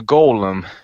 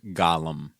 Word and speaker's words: Golem: next one is the Golem is um oh I put that on my Hulu I haven't had a chance to watch that I believe it's pronounced Gollum this is the one where